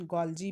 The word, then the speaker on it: Golgi: Golgi apparatus was discovered in the year 1898 by an Italian biologist Camillo Golgi. या कहीं पे हम लोग इसका प्रोनाउंसिएशन गोल्जी भी करते हैं.